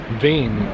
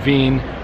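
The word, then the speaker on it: Wien: lesson for you the Vienna is actually just the English name that you'll see on maps it's actually vein as the pronunciation in German so it's a Veen historic which I think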